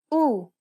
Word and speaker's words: Ου: The last vowel sound for this lesson is Ου. Ουρά. Ακούω. Καπελού. Κουρούνα. This double vowel is pronounced like the double O sound in the word pool.